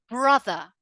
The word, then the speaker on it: brother: I pronounce it brother. Brother. Notice how I pronounce the first R as an R. Br. But I do not pronounce that final R at all.